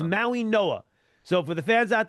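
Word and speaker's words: Mauigoa: Even though fans out there see the G, it's pronounced like an N. Why? I have no idea, but it is Maui Noah.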